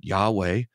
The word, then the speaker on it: Yahweh: Divine name sometimes called the tetr grammaton we pronounce it Yahweh uh it was it's there in the text